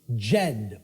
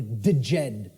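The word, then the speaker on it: Djed: was known as the the Jed or the theed pillars depending on how certain people pronounce it and these Jed pillars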